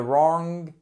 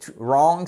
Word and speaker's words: wrong: Et sent the email to the wrong person. Et wrong, c'est exactement comme right. You do not pronounce the W, okay?